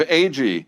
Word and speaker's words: Agee: it to them and then the announcer said, "ag." And all my friends were like, "Fucking idiot mispronounced your name." I was like, "No, he didn't."